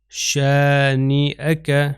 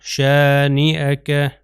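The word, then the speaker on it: شانئك: کو پڑھوں گا۔ خلائف، شانئک، شانئک، شانئک، آپ دیکھیے اس کا تلفظ میں حمزہ کر رہا ہوں کیونکہ یہ حمزہ کے اوپر فتحہ ہے یعنی زبر ہے، تو اس کا تلفظ شانئک، میں یا نہیں تلفظ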